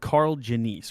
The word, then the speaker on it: Karl Janisse: on a guest we can so you said carl jenice right so i pronounce it yes yeah okay sweet so we